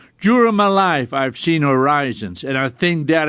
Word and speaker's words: horizon: but it is pronounced horizon-- with emphasis on the first syllable interesting why are these